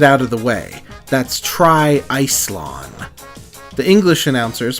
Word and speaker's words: TriIcelon: to get it out of the way that's Tri Ison the English announcers pronounce it as Tri isalon but either way an absolutely insane portmanto to